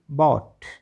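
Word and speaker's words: bought: कहाँ साइलेंट होता है, यदि किसी शब्द के अंत में GHT दे रखा हो तो GH पूरी तरह से साइलेंट होता है। BOUGST बॉट, CAUGST कॉट, BROUGST ब्रॉट, FOUGST फॉट, फॉट माने लड़ाई लड़ना।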